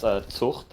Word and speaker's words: Zucht: That's pronounced Zucht, actually, Gallos.